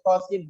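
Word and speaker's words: Ṭā Sīn: To-nya 2, sin-nya 6. Cara bacanya tosin. Ya, sin-nya yang panjang. Jangan tosin.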